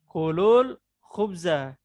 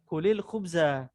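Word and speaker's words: كلوا الخبز: Kalau kita mau baca ya, langsung dia dibaca kulul khubza. Jadi bukan lagi kulil khubza. Gitu. Berarti alifnya ditulis 2. Alifnya ditulis 2. Iya. Iya, benar ditulis 2. Ditulis 2. Nah, Cuma cara membacanya itu langsung ke lamnya, gitu ya, lamnya.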